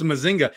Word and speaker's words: Mazinger: Well, it may be pronounced like that in Puerto Rican, but in the reality sense, it's Mazinga.